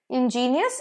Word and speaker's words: ingenious: Ingenious, ingenuous.